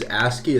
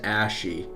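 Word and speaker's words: ASCII: Also, PewDiePie pronounces Asky as Ashie, which really bothers me.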